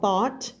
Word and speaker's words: thought: than He First thought คำ นี้ ออก เสียง ว่า thought เมื่อ กี้ เรา เสียง เมื่อ กี้ เรา เจอ True แล้ว เรา ก็ จะ มี though นะ ไม่ เหมือน กัน นะ คะ Stranger and